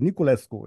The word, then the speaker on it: Niculescu: Today, I'm very happy to welcome, and I'm going to see if I pronounce his last name correctly, Niculescu. Is that right? It's perfect. Niculescu is perfect.